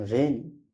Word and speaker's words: rein: यहाँ भी इसका उच्चारण जो है ए ही हो रहा है। REIN रेन, VEIN when, LEISUR इसको लेजर या लीजर दोनों पढ़ा जाता है, जिसका मतलब अवकाश होता है।